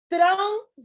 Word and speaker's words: trânsito: regra de acentuação gráfica trânsito e e proparoxítona a sílaba tônica é a antepenúltima econômico ou proparoxítona a